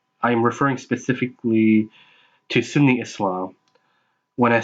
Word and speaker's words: Islam: Unfortunately, many people don't even know that Islam is more accurately pronounced Islam with an S sound rather than Islam with a Z sound.